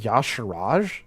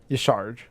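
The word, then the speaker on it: Y'Shaarj: It's pronounced Yasharaj? No, bite me. No, it's not. Yasharj. Because it says the word Shah in it.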